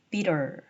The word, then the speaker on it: bitter: 자, 그래서 T 사운드가 모음 사이에서는 R로 발음이 돼요. bitter, bitter이 되는 거죠.